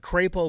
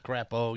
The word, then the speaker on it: Crapo: Dobie, now we're at Cray-Poe Park. You know, it sounds like, or it's spelled like Crapo. Who named that? Is that a guy, the Crapo family? Everybody from out of town says Crapo.